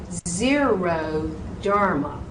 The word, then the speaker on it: xeroderma: Xeroderma, xeroderma. Very easy to misspell that xeroderma. It's an X, not a Z.